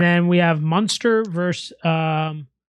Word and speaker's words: Connacht: Give me Munster then, because if you can't pronounce it, you can't afford it. It's CONNACHT. Ulster and Munster. Connacht.